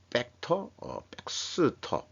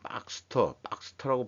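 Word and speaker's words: Baxter: 서머 피셔 독점 셀트리온 벡터 백스터의 바이오 파마 단위 소스 경쟁 요게 이제 무슨 뜻인가 읽어봤더니 의료기기 업체인 박스터라고 발음해야 돼.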